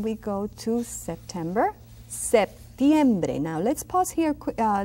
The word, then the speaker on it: septiembre: Septiembre. Now let's pause here a little bit so I can explain you something. Septiembre. See that P? It is pronounced slightly.